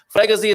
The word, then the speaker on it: freguesia: The whole sorts of pronunciations. Freguesia de junto, isn't it?